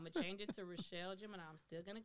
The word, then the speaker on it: Richelle: And so, I was like, so the right pronunciation would be Richelle. Richelle, not Richelle.